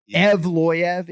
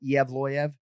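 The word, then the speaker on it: Evloev: do go mavsar and i can tell you the ufc play-by-play announcers pronounce the last name differently so i sort of say eev loya right ev loyev is passable per michael laplante and zac candido our producers but i actually go iavloyev uh but either way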